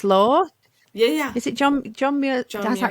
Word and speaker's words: Muir: Is it John Muir?